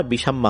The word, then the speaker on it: বিশাম্মা: বিশাম্মা। চট্টগ্রামের আঞ্চলিক ভাষার একটি শব্দ যার শুদ্ধরূপ হবে বিশাখার মা। চট্টগ্রামের আঞ্চলিক ভাষায় কথার টানে উচ্চারণটা বিষাম্মা হয়ে যায়।